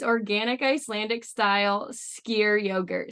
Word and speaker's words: Skyr: And it turns out it's organic Icelandic style skyr yogurt. Skyr is in like you're skiing down a hill for those who want to know how to say it.